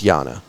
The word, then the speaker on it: Jana: like this bar so Jana Renee I don't oh Jesus I did it again it's Yana it's Yana Renee it's spelled j-a-n-a but it is Yana Renee she's a local artist